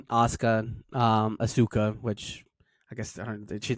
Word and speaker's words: Asuka: hell they're called, they didn't know how to pronounce Asuka, if I'm not mistaken.